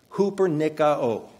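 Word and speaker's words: ὑπερνικάω: r ni k a o Cooper Nik Oh Cooper nikka Oh this word comes from two words Cooper meaning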